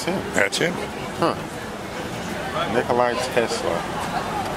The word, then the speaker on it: Tesla: Nikolai Tesla. And it is just like the car is spelled.